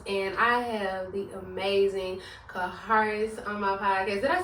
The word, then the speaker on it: Kharis: Basically, you say something like, my car is black. So, Kharis. Kharis. Yes, honey. That is the one and only Kharis.